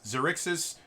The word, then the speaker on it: Xaryxis: or xyrix's space i don't know how you pronounce it it's xerixes in space they smush it together and remove